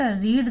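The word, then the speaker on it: read: होगा Anita did note रीड D Ramayan इसका उच्चारण रेड होता है तो सही से अगर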